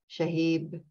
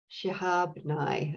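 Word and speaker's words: Shihab Nye: make another connection there the poet naomi shahib let me get her name properly where's her name naomi shahab nai i knew i was saying it wrong um was introduced to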